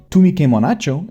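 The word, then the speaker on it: তুমি কেমন আছো: Tumi ke monacho is how you ask someone how they're doing in Bengali, and donobad is how you say thank you.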